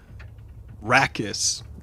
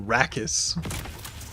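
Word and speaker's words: Rakis: And it's saying Rakus. It says of rakus like and it's spelled r a k i s because the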